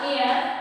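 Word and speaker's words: heir: The last year of powerful family, वो अंतिम इसका प्रोनाउंसिएशन होगा एयर एंड R is silent. R यहाँ पर हम लोग R को साइलेंट रखते हैं, लेकिन here the H is silent।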